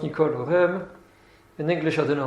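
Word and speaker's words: Nicole Oresme: In French it's pronounced Nicole Orem.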